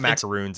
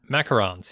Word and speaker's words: macarons: It's not macaroons. It's macarons. Yeah. Macarons. Which is my, sure. That's my American pronunciation of a French word.